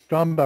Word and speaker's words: Strombo: Like, I remember Neil did an interview with, I don't know how to pronounce this guy's name, George Strombopoulos, is that it? Yeah, perfect. Strombo.